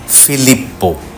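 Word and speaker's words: Filippo: যিনি নির্মাণ করেছেন তার নাম ফিলিপ্পো ব্রুনেলেস্কি। দুটো পি আছে, দুটো পি উচ্চারিত হবে, সেজন্য ফিলিপ্পো।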